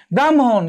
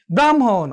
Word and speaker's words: ব্রাহ্মণ: যেমন দেখো আমরা বলছি ব্রাহ্মণ, কি বলছি, ব্রাহ্মণ। অর্থাৎ এখানে আগে কি উচ্চারিত হয়েছে, আগে ম উচ্চারিত হয়েছে, তারপর কি হ উচ্চারিত হয়েছে।